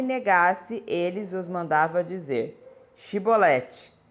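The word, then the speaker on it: Chibolete: Se o homem negasse, eles os mandavam dizer: Shibolete. Se ele era de Efraim, dizia Sibolete, pois o povo de Efraim não conseguia pronunciar essa palavra corretamente.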